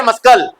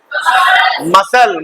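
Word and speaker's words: muscle: है क्या पढ़ रहे मस्कल क्या पढ़ेंगे मसल मकल भी नहीं पढ़ते राइट इन द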